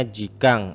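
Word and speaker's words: 時間: ya Ini apa Sensei ini dibacanya jikang artinya waktu Oke nanti saya bilang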